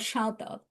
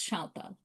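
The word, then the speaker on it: সাঁওতাল: So these people are called Shautal in Bengali, and in English, if you see their name, they're written as Santal, Santhal, but in Bengali, we pronounce them as Shautal.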